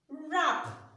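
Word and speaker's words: wrap: So although we did not pronounce this one, we did not sound it when we were pronouncing it.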